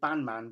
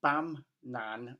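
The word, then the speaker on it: Bamnan: I always want to say Bandman, but it's not. It's Bam, Nan, and Silvercork.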